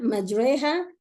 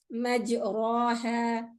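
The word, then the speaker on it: مجراها: So when I read it, I say majreha, majreha, not majraha. Majreha.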